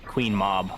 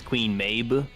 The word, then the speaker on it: Queen Mab: Most people pronounce her name as uh Queen Mob, but her name's in Japanese. You pronounce it as Queen Mayu.